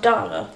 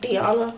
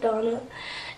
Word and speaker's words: Donna: that do know um my name is pronounced Donna somebody the other day said that they thought my name was pronounced like Diana no it's just Donna and love is actually